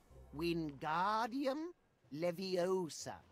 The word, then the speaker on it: Wingardium Leviosa: attention to your pronunciation it's Wingardium Leviosa okay remember make the gar nice and long also the wrist movement